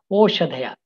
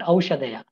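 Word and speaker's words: ओषधयः: The third classification is Oshadhaya. Please remember, it is pronounced as Oshadhaya, not Aushadhaya. Aushadhaya is different.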